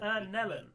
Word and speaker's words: Nellen: Nellen." Oh god! Fucking Christ! Very well, Nellen. Sure thing, Rello. Does that rhyme with melon? Why, yes, it does.